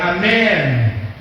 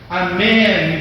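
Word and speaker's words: אמן: E a palavra amém, que a gente pronuncia aqui com o final M, no hebraico é com N, é amém, amém.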